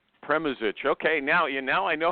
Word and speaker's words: Premuzic: everybody say it the pronunciation is premoage and it means it's short for pervy mujich which is the first husband premisich okay now I know